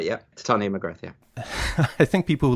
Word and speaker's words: Titania McGrath: Is that how you pronounce it? That's right, yeah. Titania McGrath, yeah.